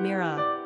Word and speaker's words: Mira: Number of syllables, 2. Ranking popularity, 665. Pronunciation, Meera.